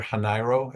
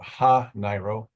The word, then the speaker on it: Hanairo: And by the way, it's Alder Hanairo. It's not, I've heard some different pronunciations tonight. It rhymes with Cairo, as she likes to put it. So Hanairo.